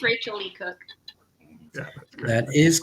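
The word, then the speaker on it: Rachael Leigh Cook: It's Rachel Lee Cook. Yeah, That is correct. Billy Lee Cook. Billy Lee Cook. I think it's pronounced Rachel Lee Cook.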